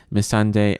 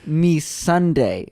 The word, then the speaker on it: Missandei: It's pronounced me Sunday, like your ice cream that is melting on the ground.